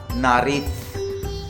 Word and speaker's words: nariz: Knows को बोलते हैं ला नारिथ, ठीक है, ला नारिथ, ये जेड है, जेता, ठीक है, ला नारिथ।